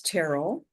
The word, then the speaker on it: Terrell: Well Casey it's it's Terl. Ter and it rhymes with Daryl there.